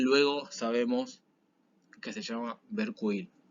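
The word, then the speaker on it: Vercueil: sabemos que se llama Berkuil, o Berkuel. Yo voy a pronunciar todo mal porque, bueno, pronuncio medio mal. Digamos que eso se pronuncia Berkuil, por eso lo escribí para que se entienda igual.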